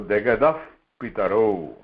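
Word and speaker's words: जगतः पितरः: இந்த விசர்காக்கு அப்புறம் ஆக்கு அப்புறம் விசர்கா அப்புறம் pa and pa vandanaka, it is to be pronounced as fa. English fa, f mari fa. So jagadaf pitaro.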